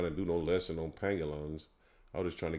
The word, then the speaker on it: pangolins: I was correct pronouncing it. Pangolins.